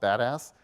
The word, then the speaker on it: BDAS: It's abbreviated BDAS, and that acronym is pronounced badass.